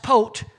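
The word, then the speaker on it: פת: The pei and the tav, it's a different vowel point in it, and it's pronounced pot, and it literally represents a hinge on a door.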